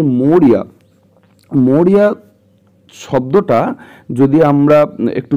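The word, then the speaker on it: Maurya: দেখো সি বলতে কাকে বোঝাচ্ছে বলতো সি বলতে মৌরিয়াকে বোঝাচ্ছে ওদের যে মা আছে ওদের মা মৌরিয়া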